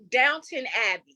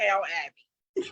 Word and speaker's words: Downton Abbey: it you know what Downton Abbey not down to Downtown Abbey okay not look I